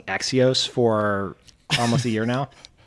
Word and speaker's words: Axios: While we're all here together, can we talk about the fact that we've been mispronouncing Axios for almost a year now?